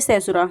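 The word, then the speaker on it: caesura: Next है कैशुरा। या इसे सैसुरा जो भी आप प्रोनाउंस कर कर सकते हो। इसे कैशुरा बोलेंगे। ठीक है?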